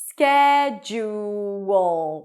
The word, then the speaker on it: schedule: Then we have a j sound. It's not a do sound, it's a j sound. Ju with a tense u. Ju. And then at the end, we have a schwa, a reduced vowel, and a dark L.